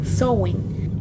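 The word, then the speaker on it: Samhain: fuentes se originó con el nombre sowing que se escribe samhein esta es la celebración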